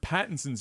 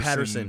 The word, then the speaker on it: Pattinson: First, can you please pronounce Robert Pattinson's? Yes, we were calling Robert him Patterson.